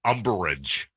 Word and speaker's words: umbrage: And this is where I take umbrage. 3 syllables. Umbrage.